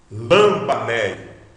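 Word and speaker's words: λαμβάνει: Lambanei. Lambanei. Veja que a sílaba forte é o ba, porque está acentuada.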